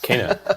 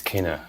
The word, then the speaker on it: Kena: Kena, yeah. Let's get that out the way. It's Kena, yeah, like the South American flute.